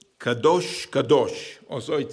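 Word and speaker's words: קדוש: musical examples here the first one is called kadosh kadosh also it says caddos but we pronounce it Kadosh Kadosh means Holi and anybody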